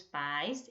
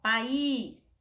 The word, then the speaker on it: país: Nós temos no nome pais, é o pingo do i, não é? E em país, é o acento agudo, friso da vovó, ó. Aí muda quando a gente fala país, ó, país, pais, né?